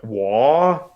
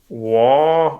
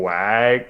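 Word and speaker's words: Waaagh!: about their favorite word wha and they say wha rhymes with far but is much longer and it can only be correctly pronounced at a deafening volume rhymes with far it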